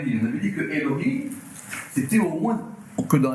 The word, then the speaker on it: אֱלֹהִים: ne suis pas sûr, on a Yud Ke Vav Ke et on va le prononcer Elohim.